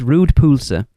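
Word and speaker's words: rød pølse: It is pronounced rude pulsa.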